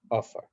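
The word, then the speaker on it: עפר: And they're called Eish, Mayim, Ruach, Ofar. Eish is spelled Aleph Shin, Eish.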